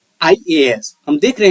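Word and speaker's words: IAS: शुरू होता है, तो इस वर्ड के पहले यहाँ ब्लैंक स्थान पे एन आएगा, न कि ए।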